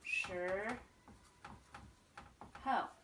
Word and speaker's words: 时候: for time, which is 时候. 时候. Remember this sound we just talked about earlier? This I sound at the end of the SH has that weird sound, 时.